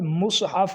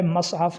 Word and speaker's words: مصحف: اگلا لفظ ہے مصحف، یہ لفظ مصحف ہے، مصحف نہیں ہے، یا مصحف بھی نہیں